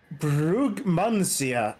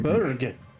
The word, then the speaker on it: Brugmansia: Allows, not knows, and Brugmansia, I think that's pronounced. You call it Berg.